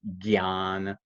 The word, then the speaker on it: jnana: So kritagnya, that jna is like you may have seen the word prajna or jnana. Sometimes people in India will pronounce it gyan, pragya.